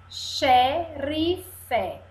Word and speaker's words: xerife: E aqui, eu sou o X com som de CH. Shampoo. Xerife.